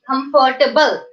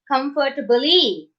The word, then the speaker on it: comfortable: the last letter here the last letter is e but actually we are not pronouncing this e we are stopping at the one letter before e that is l right comfortable comfortable uh